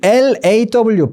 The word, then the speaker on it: law: 해가지고 500분이 보고 계시는데 분명히 영어에 오와 어의 중간 소리가 있어서를 모르셨던 분이 계셨을 거예요. 자, 왜 몰랐냐면요. 이 LAW, 법을 말하는 law라는 발음을 분명히 원어민들은 이렇게 했을 거거든요.